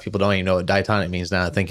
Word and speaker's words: diatonic: So diatonic, is that the word?